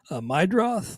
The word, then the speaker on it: Meidroth: By the way, Chase Meidroth, I did look him up on, and I think I pronounced it wrong actually. Meidroth. Let me double check.